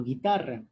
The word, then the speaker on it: guitarra: no se pronuncia y otro ejemplo guitarra se pronuncia la guitarra tampoco entonces no tiene un